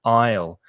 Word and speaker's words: aisle: she walks down the aisle be careful of the pronunciation of that word a-i-s-l-e the s is silent so the pronunciation is exactly the same as the contraction with i will i'll i'll go i'll